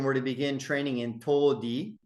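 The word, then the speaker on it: 唐手: If children were to begin training in todi, there's that word, which can also be pronounced karate, using the Japanese pronunciation of those characters, while in their elementary school, then they will be well suited for military service.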